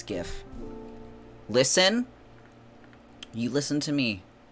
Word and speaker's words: GIF: how do you pronounce gif listen you listen to me it's gif it is GIF because it is a graphic graphic graphic that's what the G stands for graphic it's not in traffic it's graphic goodness gracious